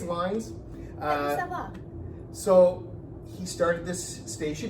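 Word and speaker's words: Lynds: If we're wrong about the pronunciation, I know that I think a daughter is on Facebook a lot and has some memories, so yeah. I think it's Lines.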